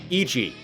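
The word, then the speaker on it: 一: He's blind and in Japanese one is pronounced Ichi.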